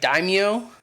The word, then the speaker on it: daimyo: damn neo or den i don't even know how you pronounce that i think it's like daimyo yeah you you hit it right yeah like this guy